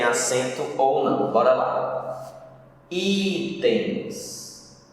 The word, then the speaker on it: itens: Itens. O i é mais forte, paroxítona.